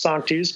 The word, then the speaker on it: Sanctus: I saw the word Sanctus Sanctus which yeah exactly I didn't know at the time that it's properly pronounced song to use you know I was